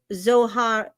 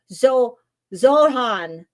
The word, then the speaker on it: Zohran: Give me a 1 in the chat if you think that that is Zohar. So I can't even pronounce his first name. Zohran.